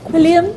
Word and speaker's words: Quilliam: Quilliam International. I got the pronunciation finally.